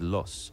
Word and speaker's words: Loos: southern boundary of the 6mile long loose Battlefield pronounced locally as loss can be clearly identified